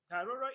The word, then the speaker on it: Gharoro: Haroro is spelled Gharoro.